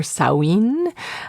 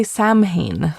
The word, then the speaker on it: Samhain: but pronounced Sin or Sawin. Um it is an ancient Irish kind of Celtic word and so um meaning the end of summer.